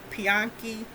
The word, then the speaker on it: Piankhi: His name is Pianki Shabaka, and that's spelled Piankhi Shabaka, Shabaka.